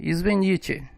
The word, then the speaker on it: извините: A sua pronúncia será de E, извините.